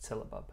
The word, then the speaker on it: syllabub: But yeah, it should be pronounced syllabub.